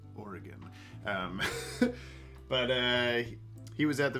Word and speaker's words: Oregon: It's not actually pronounced like that. If you say Oregon, that is incorrect. It's just Oregon.